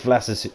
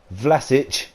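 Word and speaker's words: Vlašić: from the edge of the area but here's vlasis flatters it can't even say his name properly vlasic is his that's his goal there and we're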